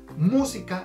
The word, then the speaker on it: música: Entonces, música, el acento va en la mu. Si cambiáramos el acento para el si, diríamos música. Y si cambiáramos el acento para el ka, sonaría música, ¿ok?